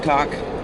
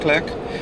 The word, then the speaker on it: clerk: trying to explain that in Canada we actually do call it clerk, not clerk. And it's a throwback from the English language, of which we all speak. Um, and the English, don't ask me why it's pronounced clerk, I don't know, and written clerk, but it is the correct way.